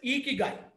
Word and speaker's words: Ikigai: So this is pronounced as Ikigai.